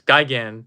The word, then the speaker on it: Gigan: version it could be very good who knows Gigan that's how you pronounce it yeah yeah Grimlock and transferring are